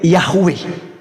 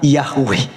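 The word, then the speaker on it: Yahweh: Pencipta langit dan bumi adalah y he W he yang kita kenal sebagai yahwe ya kita bacanya sebutnya yahwe Nah jadi teman-teman sekalian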